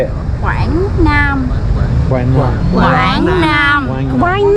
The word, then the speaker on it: Quảng Nam: Quảng Nam.